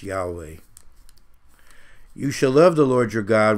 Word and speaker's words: Yahweh: so and of course the original is yhwh probably pronounced yahweh you shall love the